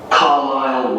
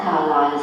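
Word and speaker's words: Carlisle: and your address 45 carile way could you spell carile for me sorry it's c a r l i s l e you don't pronounce the S car way and that's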